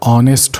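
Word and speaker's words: honest: भले ही एच से शुरू है लेकिन हम इसको अगर प्रोनाउंसिएशन करेंगे तो ऑनेस्ट होता है।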